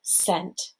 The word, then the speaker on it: scent: other stuff right so scent this is referring to smell it's s c e n t and then the c and that word is silent okay let's take a